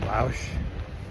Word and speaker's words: Bach: more miles to Bach which is pronounced Bou in French and then to a